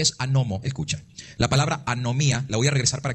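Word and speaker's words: ἀνομία: la palabra es G 458 y Cómo se pronuncia anomía Eso significa Obrador de maldad anomía entonces Cristo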